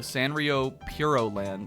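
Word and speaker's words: Sanrio Puroland: City to go to Sanrio Puro Land, is apparently how it's pronounced, because they're so pure.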